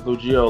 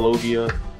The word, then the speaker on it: logia: called uh loia um I always pronounce that wrong as loia logia and um hockey users